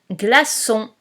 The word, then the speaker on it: glaçon: Un glaçon. Un glaçon. Nous corrigeons. Un gla, G-L-A, nous avons vu ça la semaine dernière. Son, on n'oublie pas la cédille, comme dans garçon.